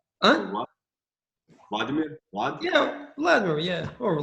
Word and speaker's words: Vladimir: That's how it's pronounced, or correct? yeah, Okay. mostly. Okay. You're Yeah. Huh? Vlad? Vladimir? Vlad? Yeah, Vladimir. Yeah, or Vlad.